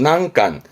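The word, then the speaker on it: 難関: 발음은 난간.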